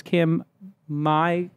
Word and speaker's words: Kim Mai: As I said, Paige Craig is an investor, and so is Kim Mai Cutler. Am I pronouncing that correct? Yeah. Correct? Kim Mai? Yep.